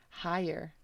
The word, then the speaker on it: hire: Oh, hire. Which one was that? This one, right? Why should we hire you? So só imagine que o H dá o R. Hi. É tipo a palavra hi.